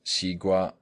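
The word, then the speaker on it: 西瓜: But the Chinese term is still pronounced xigua, which is absolutely identical with the Greek word sikua, of which Liddell and Scott say, perhaps the melon.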